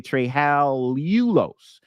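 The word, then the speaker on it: trehalulose: sucrose to trulos okay not not TR Talos there's Talos but tryal ulos another little syllable up in there okay tral ulos rarest sugar in the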